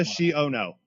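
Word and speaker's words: Xiono: Kazuda Shiono. Yeah. That's how it's pronounced.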